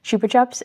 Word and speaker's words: Chupa Chups: And Chupa Chups is the correct way of saying it.